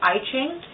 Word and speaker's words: I Ching: Another form of divination that you may know about but don't really come across very often is I Ching, or sometimes pronounced I Ching.